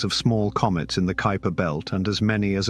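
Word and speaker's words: Kuiper: two large reservoirs the Kyper belt Kyper rhymes with Piper which is beyond Neptune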